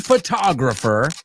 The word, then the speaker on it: photographer: A bored photographer. Vamos a decir esa palabra, que es, right? Photographer. No, hay mucha O, pero no suena mucho O.